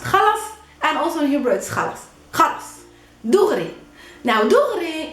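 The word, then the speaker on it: خلاص: means exactly the same also in hebrew it's pronounced khalas and also in hebrew now in arabic it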